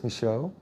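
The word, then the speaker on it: Michaud: this all right uh my name is micho it's spelled m-i-c-h-a-u-d and uh your official title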